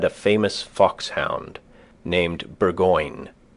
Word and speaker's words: Burgoyne: famous fox hound named burgoyne he pronounced it bagin which my informant used